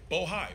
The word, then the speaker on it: Bohai: Alpha, RSTP2 Bravo, Rosemont Seneca Thornton, Rosemont Seneca Bohai. I want to make sure I pronounce it right. Bohai, B-O-H-A-I.